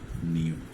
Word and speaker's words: knew: নিউ, KNEW। Perfect উচ্চারণ যদি হচ্ছে নু, আন্ডারস্ট্যান্ড? তারপর আমরা তোমাদের বোঝার সুবিধার্থে বললাম নু, নিউ।